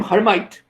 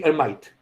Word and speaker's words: Hermite: rule for that so we will call him hermite because it sounds more english that way but it's actually hermite well scye is not right the pronunciation is